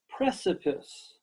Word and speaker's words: precipice: I love to travel precipice precipice 3 syllables precipice precipice can you join me